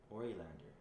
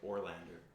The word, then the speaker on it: Orilander: Orilander. Like Short-term Oreo? memory loss or something. Yeah, Oreo Lander. So it's like Ori Lander. It's like that. It's like Orlander, but she pronounces it Ori Lander.